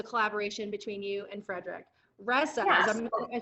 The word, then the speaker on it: Resa: Resa, yes. am I saying it right? Journey. Well, I mean, I say Resa, but in Swedish it's like Resa or something like that.